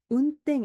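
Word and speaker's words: 運転: ' 텐 ' 발음 이 부드럽기 때문 에 간혹 ' 운덴 ' 처럼 발음 하기 위해 ' 다쿠텐 ' 을 붙이는 경우 가 있지만 , 정확 한 발음 은 ' 운텐 ' 입니다 .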